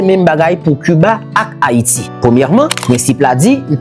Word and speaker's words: Haïti: Premièrement, oui, Haïti est perçu comme un état insulaire, mais H muet qui dans Haïti a, li fait que phonétiquement, leur monde dit Haïti, c'est comme s'il pas de H, il commençait avec A.